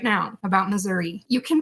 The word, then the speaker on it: Missouri: is on the map that's okay it's actually pronounced Missouri outside of Missoura if you're wondering and it's kind of right